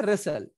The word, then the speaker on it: wrestle: में बोलते हैं रेसल, बट इसकी स्पेलिंग W से है, WRESTLE। चूंकि W के साथ R आया है, इसलिए हम W को साइलेंट कर देंगे और R से बोलेंगे।